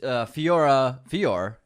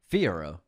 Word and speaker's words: Fiyero: He was Fior. I keep saying this guy's name wrong. Fiyero.